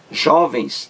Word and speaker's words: jovens: Jovens não leva acento agudo aí. É sem o acento. Jovens. Jovens. Duas sílabas. A sílaba mais forte é a penúltima. Jó. A sílaba mais forte. Jovens. Então, palavra paroxítona, terminada em ENS.